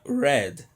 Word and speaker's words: read: de ambos é alterada normalmente o verbo read ali entre barrios rizzi no passado vira red red na barrinha a mesma pronúncia do vermelho em inglês have beleza e auxiliares